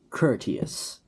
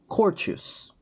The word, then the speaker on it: courteous: Curteous. I for so long pronounced it as courtous.